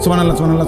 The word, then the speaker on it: সুবহানাল্লাহ: সুবহানাল্লাহ। সুবহানাল্লাহ। কিচ্ছু হয় না। হা উচ্চারণ না হলে তো তাসবি হয় নাই। শেষের গোল হাটা সাকিন করতে হবে।